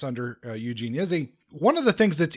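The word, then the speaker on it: Izzi: the hustlers by eugene izzy um i can never i don't think i actually pronounced this right it's i zzi but um i want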